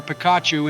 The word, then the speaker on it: Pikachu: you we named our Pikachu and honor you our first Pokémon and most trusted team member couldn't have been named anybody other than George Joe it's pronounced Pikachu that was worse than